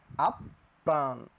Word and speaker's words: আপ্রাণ: ইনশাল্লাহ এইখানে বলছিলাম আপ্রাণ এই শব্দের উচ্চারণটা কিন্তু সবাই আমরা শুদ্ধ উচ্চারণ করি কি বলি আপ প্রাণ তাই না বলি সবাই প্রথমে বলি হচ্ছে আপ এরপরে প্রাণ তাহলে এই যে আমার